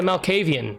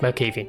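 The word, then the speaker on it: Malkavian: strikes lastly is the Mel kayvyun I believe that's how you say it not my kayvyun I think it's Mel caffee we're going with Mel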